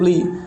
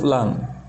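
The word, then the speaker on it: لام: Namanya bukan huruf li, tapi huruf lam.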